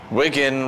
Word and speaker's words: Wigan: why bet on Wigan Wigan remember rhymes with winen tell them you know